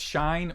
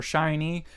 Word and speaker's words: SHINee: Gazette I just wasn't sure if they were pronounced shine or shiny but luckily a lot of you guys have